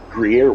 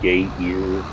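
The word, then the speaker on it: Gruyère: Gruyere was the best one because people would call it gay ear, gay rear, and it's like, Jesus Christ, are you guys fags or what?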